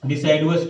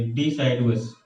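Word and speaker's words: deciduous: क्या बोल सकते हैं, इनको हम क्या बोलेंगे, डिसाइडवस टीथ बोलेंगे, डिसाइडवस, यू है, ठीक है।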